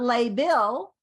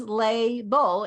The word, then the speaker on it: label: is Lay ball so this is not label this is Lay Beau and we're going to